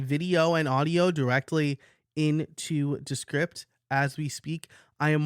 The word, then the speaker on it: Descript: So I'm going to say Descript, like description. I guess if you say description, that's how you pronounce it.